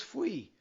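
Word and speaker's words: faoi: The second word is fui. Fui! Fui! That F-O-A-I is pronounced fui.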